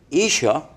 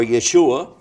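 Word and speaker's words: ישוע: His name in Hebrew is pronounced Isha or Yeshua, and it's Isa in Arabic.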